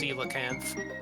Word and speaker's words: coelacanth: Apparently, it is pronounced coelacanth.